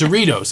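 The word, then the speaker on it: Cerritos: seros this guy goes I'm riding goes it's ceritos I said I think it's seros I said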